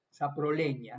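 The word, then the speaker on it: Saprolegnia: Saproleña, ¿no? La G y la N en latín se pronuncia como ñ. También en italiano también, ¿no?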